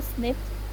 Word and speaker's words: SNP: It's pronounced SNP.